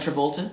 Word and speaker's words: Travolta: How do you pronounce his John name? Travolta.